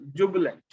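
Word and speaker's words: jubilant: अब इसमें हमें आई को अ बोलना है, जुबलेंट, है ना। तो आई वाला ई वाली साउंड नहीं है इसमें।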